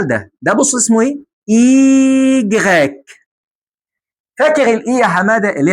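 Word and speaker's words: i grec: اللي هي الاي اي جراك. دي اسمها اي جراك، ودي اسمها اي جراك. اي. اي جراك. عارف كلمه يوناني؟ يوناني. جراك. يوناني جراك.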